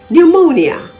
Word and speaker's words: pneumonia: l o g y p is also silent if it appears before n at the beginning of a word as in pneumatic p-n-e-u-m-a-t-i-c pneumonia p-n-e-u-m-o-n-i-a all the silent